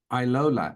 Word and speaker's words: iLola: to be here thank you now the name Iola am I pronouncing that correctly yes all right so Iola